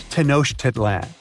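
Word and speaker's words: Tenochtitlan: It's Tenosh Titlan. And Mayan cities are hard to pronounce, too.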